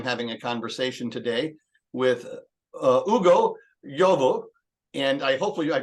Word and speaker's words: Ugo Yovo: I am the Director of Church Multiplication for the Midwest District, and I'm having a conversation today with Ugo Yovo, and hopefully I pronounced that correctly.